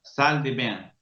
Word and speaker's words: salle de bain: Se escribe con 2 L's. Sí, lo hacen a propósito para indicar que esa L se pronuncia como la L del español.